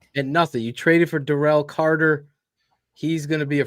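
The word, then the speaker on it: Darrell: again D Daryl Taylor no he said pronounce my name derell so I got one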